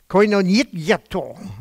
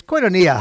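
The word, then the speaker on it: κοινωνία: First, the Greek word, koinonietto. It sounds a little Russian, doesn't it? I'm playing around. That's not the correct pronunciation at all. But it's koinonia. How many of you have heard that word koinonia?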